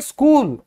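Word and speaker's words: school: हम बोलेंगे स्कूल, क्योंकि हमें आज पता चला कि एच साइलेंट है।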